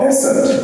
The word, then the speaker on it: Besant: Two of my great uncles, Venerable Shivarao and Venerable Sanjeev Rao, were part of the circle around Annie Besant, or Besant, as she insisted her name should be pronounced.